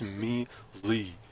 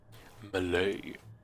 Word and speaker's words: melee: It's melee. M-E, me, Lee, like, you know what I mean? Bruce Lee. Melee. Malay. Malay. Cause the AY is silent. There ain't no goddamn AY.